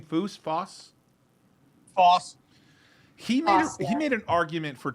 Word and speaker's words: Foss: Foss.